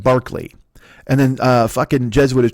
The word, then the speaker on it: Berkeley: But the guy's not named George Berkeley. He spells his name George Berkeley, but you pronounce it like Barkley.